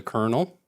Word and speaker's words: colonel: the L Louisville kernels so this is a colonel or colonal I don't know why that's pronounced like that and then Austin you're